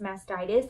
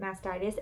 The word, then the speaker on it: mastitis: But it is spelled mastitis, and I've heard it pronounced mastitis, and I heard one doctor pronounced it mastitis and one doctor pronounced it mastitis. So you can say whatever you want.